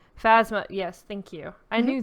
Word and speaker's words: Phasma: You get heroes, Finn and Phantom. I can't even say her name. Phasma, yes, thank you.